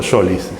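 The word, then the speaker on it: Solís: salos en total y vos decís Solis solí o Solis siempre surge la tradición decide en realidad la pronunciación de las palabras depende muchísimo de una especie de convención totalmente tácita entre los hablantes aquí decimos solí yo no conozco a nadie que diga Solis y le ponemos tilde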